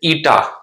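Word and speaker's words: η: लेकिन यहां विस्कोसिटी वाले केस में जब हम विस्कोसिटी का कोफिशिएंट डिफाइन करेंगे, आगे देखिए, the coefficient of viscosity, this is pronounce as ईटा।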